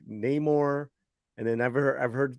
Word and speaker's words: Namor: a Spanish word like Namor right you know but it seems like that would be more normal for English as well because we usually put the emphasis on the second vowel right there you go